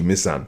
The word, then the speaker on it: Misan: So the only bit you have to really get is Misan. Yeah. Misan. But most people call me Misan, 2 syllables, apart from, of course